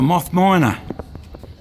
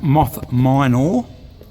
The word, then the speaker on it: Moth Minor: Here we have a Moth Miner. I should pronounce that probably a little bit better than that, a Moth Minor.